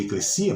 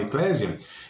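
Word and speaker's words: ἐκκλησία: Ou eclesia, a pronúncia mais correta seria eclesia, mas a portuguesana a gente fala eclésia.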